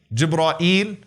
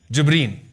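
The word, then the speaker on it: جبريل: What are some of the ways to pronounce his name? Jibreel, Jibra'il, Jibra'il, Jibra'il, Jibreen. Those are 5 ways that have been narrated through the various qira'at.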